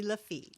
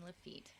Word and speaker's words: Lafitte: He was Is it feat or just Lefi? Since it's French. Um, so because it ends with a T, you do or with an E, you pronounce the T's.